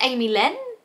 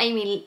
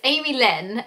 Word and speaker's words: Amy Lynn: want to butcher it I think it's Amy Lynn not Amy Lee I was gonna say Amy Lee it's Amy Lynn and they do really